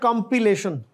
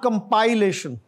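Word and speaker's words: compilation: comfortable और यह आगे क्या कंपिलेशन नॉट कंपाइलेशन कंपिलेशन जैसे क किताब कंपाइल करते हैं और आगे है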